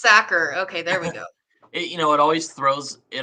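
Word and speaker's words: Sachar: pronounced Sacker.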